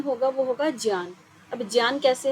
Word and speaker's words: ज्ञान: इसका सही उच्चारण नहीं है इसका सही जो उच्चारण होगा वह होगा ज्ञान अब ज्ञान कैसे है एक बार हम यह